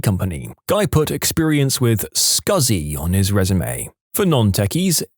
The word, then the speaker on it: SCSI: Guy put experience with scuzzy on his resume. For non-techies, SCSI is a type of hard drive pronounced as he wrote it, but never in a million years written that way.